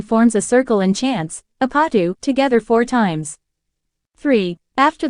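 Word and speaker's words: 아파트: takes its name from the Korean word for apartment pronounced apatu curious to try this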